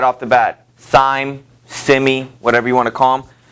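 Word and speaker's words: Syme: And Sime is how I'll pronounce his name.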